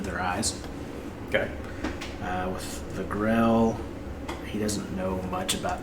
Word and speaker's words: Grell: Grell? Mm-hmm. Spell that. Grell. Pretty much like I thought. Awesome. Yeah. It's spelled like how it sounds.